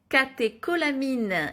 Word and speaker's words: catécholamines: En fait, le stress, ça va demander à tes glandes surrénales de produire des catécholamines. Oui, ça se prononce que alors que c'est CH.